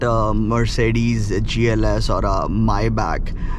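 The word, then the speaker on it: Maybach: Mercedes GLS or a myb i i pronounce it as mayb because my back sounds like Anil Kapoor from the '90s okay I you know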